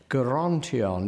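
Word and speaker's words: Gerontion: Tennyson in a moment guarantee on it's very important there's a hard G it's important that it is not the sound that we are used to within the only such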